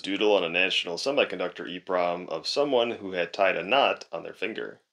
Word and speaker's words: EPROM: Although, I think it should still be pronounced EPROM.